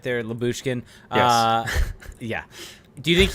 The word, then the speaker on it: Lyubushkin: Lyubushkin?